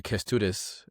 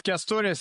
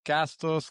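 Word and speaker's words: Kęstutis: It's Kestutis, actually, so you are pronouncing it very properly. But I have different names in all in all different countries. They call me Castus, Cactus in Mexico, and all kind of different names.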